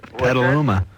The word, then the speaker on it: Petaluma: How do you pronounce that? Petaluma.